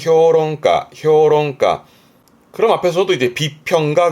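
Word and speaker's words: 評論家: 평론가 발음은 효롱가 효롱과 그럼 앞에서도 이제 비평가 그러면 희가 히효가처럼이 평자는 평하는 부분이라 평가하고 비평하는 도로 참 많이 보게 됩니다.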